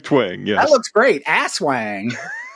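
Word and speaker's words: Aswang: Asswang. Isn't that the way? Isn't that how you're supposed to say it? Yeah. Oswang. I think the cover actually has there's a little pronunciation thing.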